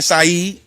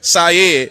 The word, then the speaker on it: Sayed: with the Abdul, you know what I'm saying, Saeed. I said that right? Yeah, Sayed. Syed. So the folks that's mispronouncing it, Syed.